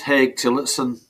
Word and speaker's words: Haigh Tillotson: Well, it's just Haigh Tillotson. Ah, there Haig's you go. difficult, isn't it? But that's how you pronounce it.